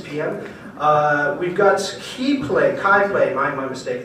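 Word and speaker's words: CHI PLAY: We've got Kai Play, my mistake. It's spelled C-H-I. They call it Kai Play.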